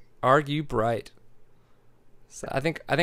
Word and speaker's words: Argubright: Like you're arguing with a bright person. Argue bright. Argue bright.